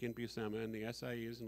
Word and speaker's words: Buscema: in the comics and i've been calling him john buscema and when i thought found out it was busama it was like oh it's pronounced like my name and i didn't even